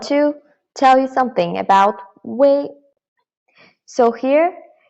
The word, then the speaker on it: 微: about 微 So here, this EI together is pronounced as A, and here actually UEI together is way. However, UEI is its exact pronunciation, but while writing, this UI is the only correct writing form. So when you see UI, you should know that it is actually UEI, which is way, but we just don't write the E out.